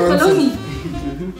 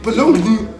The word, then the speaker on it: bologna: And you pronounce it baloney. With a G, baloney. I mean, it's a silent G. You know these English people. And a silent A. And a silent A. You just say baloney.